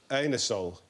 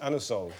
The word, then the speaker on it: Anusol: You can't ask for um, anusol in that way in a in a shop. You have to pronounce it anasol.